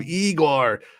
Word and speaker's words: Iger: podcast thanks man um it's pronounced Bob Igor Igor all right oh